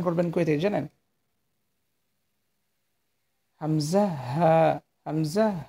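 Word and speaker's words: همزة: হামজা হামজা হা ছেলেদের যে উচা জায়গা আছে মানে গলার এই গলার ও উচার জায়গা থেকে হামজা হাফটি উচ্চারণ করবেন ঠিক আছে হামজা এটা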